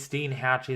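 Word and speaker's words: Steinhatchee: in the coming hours I believe it's stean Hatchy that's how you say it okay either way styan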